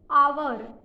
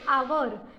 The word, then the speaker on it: hour: उसके बाद HOUR means आवर, एच नहीं बोलते, आवर।